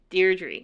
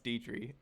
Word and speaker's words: Deidre: Deirdre. No, it's Deidre. Damn it. Strong E.